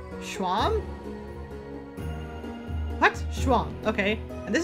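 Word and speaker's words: Seam: to do talk about yourself the name seemed pronounced Schwalm let's swamp okay and this is my little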